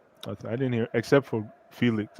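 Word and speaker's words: Félix: didn't hear except for Felix or Felix sorry now I know how to pronounce his name yeah I it's Felix apart from Felix I don't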